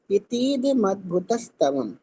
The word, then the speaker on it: इतीदमद्भुतस्तवम्: अब देखो ये जो शब्द यहाँ पे बोला गया है, इतीदमद्भुत स्तवम, इति अद्भुत स्तवम, इस तरीके से का प्रोनाउंसिएशन होगा।